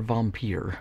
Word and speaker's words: Vampyr: here we go so 1932's vampire or vompier if you want to pronounce it like all fancy and European it's one of those